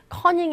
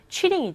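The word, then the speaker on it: cheating: 을 했어요 컨닝을 했어요 커닝 이 아니라 정확한 발음 영어 표현은 취 링이 줘 취 링 1 회원의 걸렸어 그리스도 선생님이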